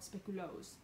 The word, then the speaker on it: speculoos: leg or something, because he was saying it was like Speculatius or something. And anyways, turns out that's how you say it in German, in Germany, and then in Belgium it's called Speculoos.